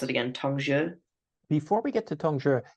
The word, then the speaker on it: Tongzhi: And so it makes sense that when we get into, remind me how to pronounce it again, Tongzhi.